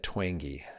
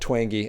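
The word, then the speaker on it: Twenge: San Diego State University the last name is said twangy and I apologize if you guys have gone out and said it wrong last name is said twangy and another thing I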